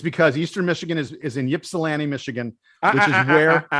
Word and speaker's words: Ypsilanti: It is spelled Ypsilanti, but Ypsilanti, Michigan.